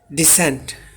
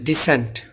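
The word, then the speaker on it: dissent: আর পরেরটা হচ্ছে ডিসেন্ট। একই সাথে কোন এখানে টান থাকবে না। ডিসেন্ট।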